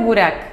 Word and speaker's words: Burak: Mi hijo es Burak, le puse un nombre turco también, porque se pronuncia igual que acá que allá, la misma pronunciación.